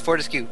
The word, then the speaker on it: Fortescue: No, it's not Fortesque, it's Fortescue. The announcer guy told me.